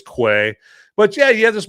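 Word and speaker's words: Kwei: Okay, and then his older, bigger brother, I believe his name is pronounced Quay. I could be butchering that, but I think it's Quay.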